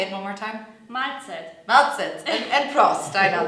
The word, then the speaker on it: Mahlzeit: Very typical is Mahlzeit.